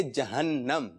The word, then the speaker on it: جہنم: جی درست تلفظ ہے جہنم. درست تلفظ کیا ہے؟